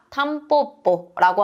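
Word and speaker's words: タンポポ: 민들레를 우리가 탐뽀라고 하죠. 뒤에 왔기 때문에 뽀뽀 담뽀라고 읽은 것도 체크를 해 주시면 좋겠습니다.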